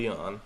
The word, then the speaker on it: Leon: Well, the first Amy or Aime, don't know, but it's definitely Leon.